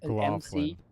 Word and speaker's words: McLaughlin: McLaughlin. Yeah, Gloff, like Gloff, GLOFF, Mc- LIN.